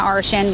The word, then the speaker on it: Arshan: It rhymes with Martian, right? I have to tell you, so that's what I've been telling everyone. I was teased when I was little, but Arshan the Martian is the best way to remember.